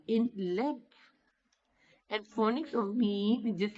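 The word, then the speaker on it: ميم: Lam, lam is pronounced, and meme is pronounced from the lip. Meme when you touch lips with each other with soft.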